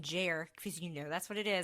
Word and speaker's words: Jer: One, I did pronounce it Jer.